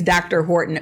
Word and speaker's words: D.R. Horton: Now, sometimes when people first start to look at that name, D.R. Horton, they think it's Dr. Horton, but that's not how it's said. It's just D.R. Horton. It's the gentleman's initials.